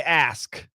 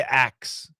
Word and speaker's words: ask: to a yeah so once again say ask don't say ax if you ask somebody you might kill them don't be killing anybody all right say ask but yeah you you may hear some Americans say A you won't hear me saying it I don't say a